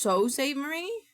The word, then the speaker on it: Sault Ste. Marie: Nope, it's pronounced Sault Ste. Marie. But there's an L and a T. Where'd the L and T go?